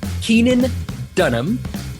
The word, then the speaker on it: Keenan Dunham: you've met him now uh we it's Keenan Keenan Dunham did I pronounce that correctly correct yeah all right awesome